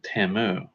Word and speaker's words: Tamdhu: Tim moon oh and Gaelic says the D H combo is silent so Tim ooh Oh interesting ok Tim ooh I think yeah that's